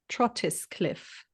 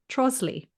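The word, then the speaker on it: Trottiscliffe: it out it's uh trotis cliff with an e at the end. It's pronounced trosley of course. Yeah. So just to just where are all the letters gone in between?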